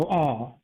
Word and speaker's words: awe: When somebody gets surprised in the South, they'll go, aw. It's kind of like a crow noise, but it's not C-A-W, it's aw.